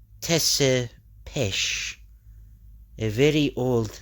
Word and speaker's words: Tepes: Yes, but it is pronounced Tesepesh, a very old name.